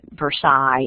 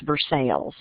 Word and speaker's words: Versailles: So the sign on the right pointing to Paris, London, and Versailles, and Florence, those are all the names of little towns and cities in Kentucky. So, and we don't pronounce it Versailles, it's Versailles.